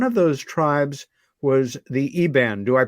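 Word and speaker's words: Iban: And one of those tribes was the Eban. Do I pronounce that correctly?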